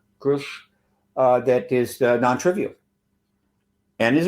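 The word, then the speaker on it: Grusch: Grush, I believe it's Grush, pronounced like Bush, Grush, that is non-trivial and is a good thing.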